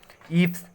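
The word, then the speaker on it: eaves: ईव्स, इसमें ए silent होता है।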